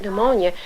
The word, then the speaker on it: pneumonia: How on earth is a child going to find the word pneumonia unless some teacher is told that the P is silent and you take those silent words in isolation.